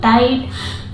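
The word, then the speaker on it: tight: ध्यान रखने वाली चीज टाइट टाइट में भी आप देख सकते हैं कि टी के पहले जीएच है तो उसका भी प्रोनंसिएशन नहीं होता है वो वहां पे साइलेंट रहता है इसको पढ़ते हैं टाइट इसको पढ़ते हैं फ्राइट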